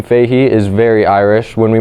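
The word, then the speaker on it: Fahy: When we migrated over, my last name Fahey is very Irish. When we migrated over, we stopped at Ellis Island because that's where everyone migrated at the time. And it was actually spelled F-A-H-Y and pronounced Fahey.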